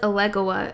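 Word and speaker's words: Elegua: I don't know where it's from, but this says Alegua is the right way to pronounce it.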